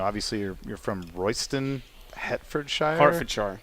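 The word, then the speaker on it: Hertfordshire: Harfordshire, right? That's a thing. Well, it's Harford Shar, but I'm trying to halfway pronounce it in an American.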